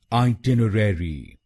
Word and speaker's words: itinerary: और इसमें आपको दूसरे शब्दांश पर यानी TIN और चौथे शब्दांश पर यानी RER पर जोर डालना है। आइटिनरी। आइटिनरी। तो इस शब्द को आइटिनरी नहीं बोलिए, इसको बोलिएगा ब्रिटिश इंग्लिश में आइटिनरी या अमेरिकन इंग्लिश में आइटिनरी। अब आप जान गए इस शब्द की सही प्रोनाउंसिएशन।